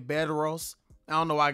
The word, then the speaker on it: Bedros: his name is beros I think that's how you say his name bed Ros I don't know why